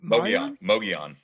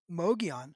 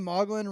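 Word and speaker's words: Mogollon: Mo Mogon. Mogon. Yeah, dude. I say I've been saying Mlin Rim forever.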